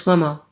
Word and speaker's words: Cuomo: Uh Chris Kumo. Chris Cuomo.